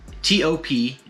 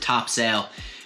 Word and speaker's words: Topsail: Topsail Beach Topsail is t-o-p-s-a-i-l so a lot of people pronounce it top sale locals call it Topsail Topsail is located about